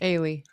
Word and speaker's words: Ili: Ailey. Ailey. Like Haley, she said. Like Haley without the H.